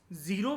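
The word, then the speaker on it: Ziro: valley में रहते हैं इसको आप प्रोनाउंस जीरो भी कर सकते हो जरो भी कर सकते हो वैसे उसको जरो वैल बोला जाता है अब इनकी एग्रीकल्चर की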